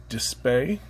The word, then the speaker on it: DSPIAE: They really should be sold together as one tool set in my opinion, but we are going to review the Dispae, that's how I pronounce it anyhow, MTC circle cutter and the Dispae MTCL center locating tool.